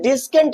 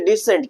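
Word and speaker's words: descent: तो हम डिस्केंट नहीं पढ़ेंगे, हम क्या पढ़ेंगे, डिसेंट, क्या पढ़ेंगे, डिसेंट।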